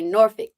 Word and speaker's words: Norfolk: Virginia we're over in as the locals say Nori okay yeah but I'm in Norfolk Virginia and I do